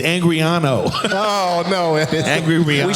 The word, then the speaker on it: Angarano: Griff, how do you pronounce Say it for everybody. It's Angriano.